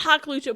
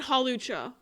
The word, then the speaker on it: Hawlucha: Not Haklucha. Put that away. There's no K in Hawlucha. Ris, we're not doing this again. It's not Haklucha.